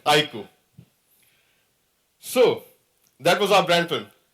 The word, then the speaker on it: iQOO: and on its iku the pronunciation is iku I emphasize again it's iku so that was our